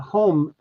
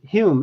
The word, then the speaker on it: Home: famous medium DD uh home used to say Hume it's pronounced Hume even though it's spelled home this famous medium I